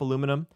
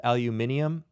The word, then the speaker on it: aluminium: going to look up aluminum which is also sometimes known as aluminium um that's a of reasonable uh just an alternative a pronunciation depend depending on where you are in the world the symbol for